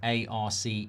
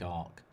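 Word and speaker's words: Arce: A R C E. I'd say Arc. I think you think Ar Nath, but I think Ark.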